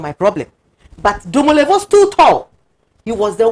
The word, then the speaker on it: Domelevo: Domelevo, that's the right pronunciation.